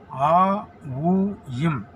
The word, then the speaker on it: ஓம்: அந்த ஓம்ல வந்து ஒரு [தொண்டையைச் சரிசெய்தல்] ரகசியம் இருக்கு ஓம் அப்படின்றத நீங்க பிரிச்சீங்கன்னா ஆ உயம் அப்படின்னு பிரியும் ஓமை பிரிச்சா ஆ உயம் அப்படின்னு பிரியும் ஆனா இதை உச்சரித்து உச்சரிக்கறதுக்குன்னு ஒரு முறை இருக்கு இந்த ஆ உயம் இது எப்படி உச்சரிக்கிறது?